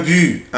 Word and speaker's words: but: ان بوت ان بوت بوت هدف او جول. ممكن منطقش لا لتر تي حرف التي ممكن منطقوش، اقولها ان بو ان بو ان بو او بوت.